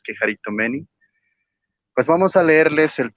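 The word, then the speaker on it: κεχαριτωμένη: Y con respecto a lo de Quejaritomeni, o Quejaritomene, como él lo quiera llamar, pero la pronunciación real es Quejaritomeni, pues vamos a leerles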